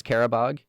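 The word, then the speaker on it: Qarabağ: I think it's Carabog. Um, but it's spelled Q A R A B A and the G kind of has this um special character to it.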